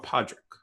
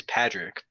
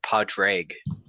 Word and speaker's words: Padraig: is it Padrick or Podrick? It is Padrick, but I believe, having said that, I'm pretty sure that the actual Gaelic pronunciation. Padrick? No, it's Padraig.